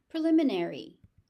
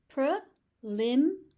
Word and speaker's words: preliminary: Preliminary. Preliminary e. There are five syllables. So, make sure you are pronouncing them all.